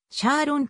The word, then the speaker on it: Charon: 命名されたなおクリスティーは当初から一貫してチャロンのチャーをつはシャーリーンのニックネームさあと同じように発音していたためこれが英語圏で定着してシャーロンと呼ばれるようになった 2005 年 10 月